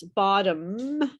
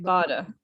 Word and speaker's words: bottom: way that i do so i pronounce bottom and you say bottom right bada and so you don't